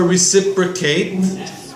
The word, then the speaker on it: reciprocate: something wrong you made a mistake number four reciprocate the pronunciation may be difficult re sip relic 8